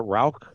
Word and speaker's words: Rauch: a bunch of Rauch malt, which I was pronouncing Rauch malt. Well, they pronounce it Rauch? Rauch, yes.